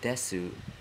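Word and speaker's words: です: when he pronounce this the U in Desu is often not heard or silenced and that could have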